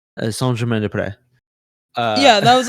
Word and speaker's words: Saint-Germain-des-Prés: It's in English you would think it would be Saint Germain des Prés if you take out the S's out of de and pré.